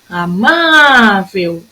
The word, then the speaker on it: amável: Amável, a minha sílaba tônica é o má.